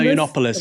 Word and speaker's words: Yiannopoulos: What do you know how to pronounce his last name? Milo Yiannopoulos.